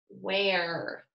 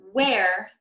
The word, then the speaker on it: where: we're reading the word where we have to pronounce the letters WH as what what and the ER e as air we're okay and then when you're writing where you have to remember